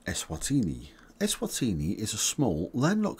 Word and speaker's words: Eswatini: the Eastern side of South Africa and you pronounce it swatini like this s wa TI knee s wa